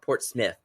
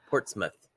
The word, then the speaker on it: Portsmouth: Portsmouth Maine and um not Port Smith Portsmouth well that's her problem